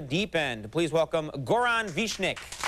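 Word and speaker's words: Višnjić: saying it correctly Goron vishnik that's pretty close what's the actual way to say it uh I would say vishnich but it should be snitch it's good yeah it's good Goran vishnich that's good okay that made it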